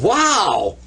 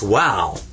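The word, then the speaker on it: واو: letter it's so amazing it's called wow that's wow and of course it represents the w in the english language we usually represent it with english letters w a w wow wow okay let's do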